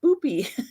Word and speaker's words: Boopie: And I have to be very careful with how I pronounce this. These are Anchor Hawking candle holders, but they are the boopie pattern.